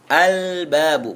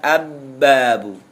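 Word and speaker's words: الباب: au bacanya tapi alabu yang kedua ba albabu Bukan abbabu tapi baca Al albabu ketika bertemu dengan alif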